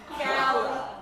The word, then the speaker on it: gala: You'd have to drive to a Galala. Sweetheart, it's pronounced gala or gala if you are of the European.